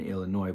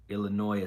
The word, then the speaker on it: Illinois: Illinois is silent. Well, Illinois is silent depending on your speech, right? Because some people say Illinois. Some people make the S have sound.